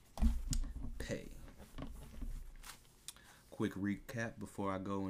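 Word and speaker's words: פ: moving along would be the pay pay pay f as in food pay and there's two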